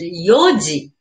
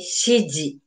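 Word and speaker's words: 四時: And yoji. We don't say shiji. Just yoji. This is yoji.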